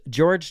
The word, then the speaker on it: Jorge: articles about this story, it's spelled Jorge, but the news always reports on his name like George. So, apparently that's how he pronounced it.